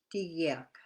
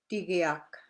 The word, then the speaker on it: tigiak: The G has a different sound. It sounds like a hard G in English, but it is softer. Example, urak, urak. Urak is fish. Tigiak is weasel. Tigiak.